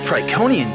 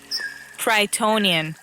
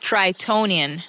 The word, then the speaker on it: Tritonian: This Triconian jungle is hot. Tritonian. What? It's pronounced Tritonian. That's what I said. Triconian. Tritonian. With a T in the middle.